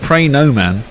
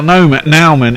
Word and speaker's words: Nauman: Well, Nauman is Nauman. AU can be pronounced O, can't it?